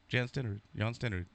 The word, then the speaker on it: Stenerud: Jan Stenerud. Is that how do you pronounce his name? Jan Stenerud.